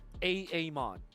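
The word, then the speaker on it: Aamon: Now you're pronouncing it correctly. A mod.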